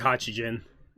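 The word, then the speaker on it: Hachigen: Or however you pronounce his fucking name, because I can't remember it right. It is Hachijin.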